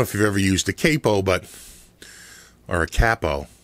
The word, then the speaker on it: capo: but or a cppo people say it should be pronounced cppo but wouldn't it be two PS if it was cppo the use of one p would mean it's pronounced Capo anyway I digress uh I